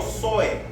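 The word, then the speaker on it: ζωή: Viene del griego zoe, con Z, acento en la E.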